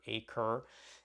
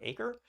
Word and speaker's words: Aqre: at least sometimes pronunciations I'm pretty sure acre is a way to say it it's set exactly like the English word acre which is one of the words it comes from and and Eric has